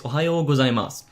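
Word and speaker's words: おはよう: kind of playful but the neutral pronunciation is ohas also notice how the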